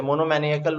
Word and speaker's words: monomaniacal: Monomaniacal आ जाएगा। Word देख रहा है monomaniacal. Monomaniacal is the pronunciation.